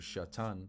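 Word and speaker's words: שָׂטָן: just goes back to the Hebrew word shatan that's how you say it in the Hebrew that's where you get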